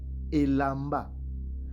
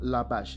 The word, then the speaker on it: Elamba: et il a, c'est-à-dire, ces mots-là se prononcent Elamba. Mais Edom a mal traduit et il a traduit comme Labash. Ce n'est pas Labash, mais c'est Elamba, qui veut dire tout simplement costume, habit.